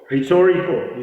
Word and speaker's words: rhetorical: I see those are rhetorical rhetorical is written as rhetorical starting with our H is silent yet is silent if